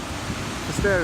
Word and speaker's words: Finisterre: Beautiful day here in Finisterre, however you want to say it. Finisterre is the way the locals say it.